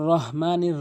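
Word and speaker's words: ٱلرَّحْمَٰنِ: মারাত্মক লেভেলের ভুল অধিকাংশক আর রহমানির রহিম বলে এখানে ভুল উচ্চারণ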